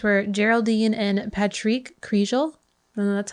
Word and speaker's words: Kriégel: home the couple's names were geraldine and patrick kriegel and that's how you pronounce his name but i know i'm going